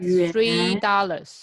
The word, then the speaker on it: 元: 元 Yuan. Yuan. Going Yuan. up. So raise your head when you say it. Yuan.